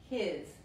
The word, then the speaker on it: his: la S española, pero la S aquí se pronuncia como la Z inglesa, his, his, ok, la